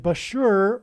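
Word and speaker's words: Bushehr: Bashur nuclear power plant and Bashur rhymes with Barker it is predicted that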